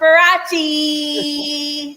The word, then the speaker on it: Faraci: So, what makes Miss Ferachi?